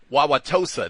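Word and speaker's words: Wauwatosa: Uh is it Wa waasha? They got all these you know bizarre names and such but oh it's Wawaossa. That's it.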